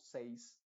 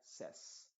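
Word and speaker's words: says: de la a original Se va a pronunciar como una ei se debería pronunciar como seis pero en esta palabra es una excepción se diría ses y a veces la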